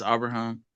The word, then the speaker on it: Abraham: My name is Abraham, and well, to pronounce it right, it's Abraham.